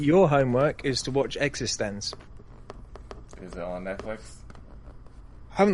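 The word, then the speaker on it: eXistenZ: Speaking of And space Rob, cowboys, your homework is to watch Existence.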